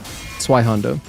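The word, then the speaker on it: Zweihänder: So anytime you have a ZW in German, it makes like a TS kind of sound. It's like Zwei. Something like that. So it's like Zweihander.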